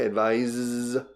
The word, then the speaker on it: advise: El verbo advise, pronunciación diferente, advise es con S.